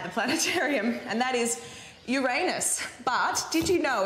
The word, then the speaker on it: Uranus: kids here at the planetarium and that is uranus but did you know it's actually pronounced uranus which i also think is pretty funny